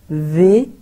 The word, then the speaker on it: vais: So je, e silent ho gaya, ve, is silent ho gaya, s rather, bien,